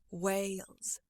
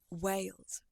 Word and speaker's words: Wales: First, do the way sound in front, way, and then let your tongue come up a little bit. Whale, whale. And then tack on the Z sound. Wales, Wales.